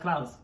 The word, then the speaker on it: Klaus: It's pronounced Klaus.